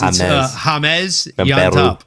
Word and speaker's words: James: a James yeah it's hamez yeah from Peru such an such an interesting pronunciation of the way the name spelled but sorry to Der